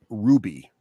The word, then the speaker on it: RWBY: but of the things they've discovered lately that I actually would watch on my own, they have discovered this show Ruby, and it's spelled RWBY.